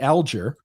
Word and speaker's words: Alger: So originally if you go back far enough in her family's name it's Augger. Uh and then as you pointed out the pronunciation you gave is actually the correct one. I ju I still to this day people debate this and I've been saying elier forever but I always